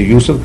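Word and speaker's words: يوسف: You say Joseph, we say Yusuf, is the same person, but that's the way of pronouncing.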